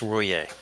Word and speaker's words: Ruyer: you told me is the correct way to pronounce his name, Tim. I think it's Ruyer. It's Ruyer.